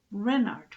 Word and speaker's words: Renard: is king renard iv renard with the accent on the ren what's a ran ass